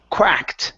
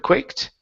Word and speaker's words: quacked: right let's go to this word here quacked instead of quicked okay he even quacked